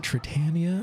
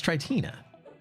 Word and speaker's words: Tritina: Do you pronounce it Tritania or Tritina? It's Tritina.